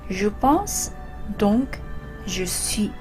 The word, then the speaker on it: Je pense, donc je suis: 여기 두 번째, 그러니까 방법 서설에서 불어로 쓴 거에서는 Je pense, donc je suis 이렇게 됩니다. 불어로 그렇게 발음하는 거예요?